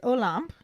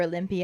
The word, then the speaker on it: Olympe: Hagrid explains that he was having tea with Olympe, is apparently the proper pronunciation according to the YouTube video that I watched, because I was saying Olympe or Olympia, I didn't really know how to say it.